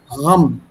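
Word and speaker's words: غم: It's not gum. Gum is camel ka gum, jaise kagaz chipkate hain. It's definitely not that gum. It's pronounced right from the throat. Something close to gham. Yeah, sir, there is nukta under G. Yeah, it sounds like G, but it's not G. It's an Urdu pronunciation here. Gham hai.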